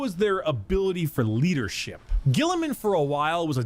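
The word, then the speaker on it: Guilliman: Gilliman.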